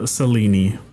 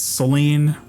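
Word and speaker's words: Selene: Um, her name is uh Seleni. Um, it's spelled like it's Seline. That's like the American way to say it, but it's I went with the uh the modern Greek pronunciation, Seleni.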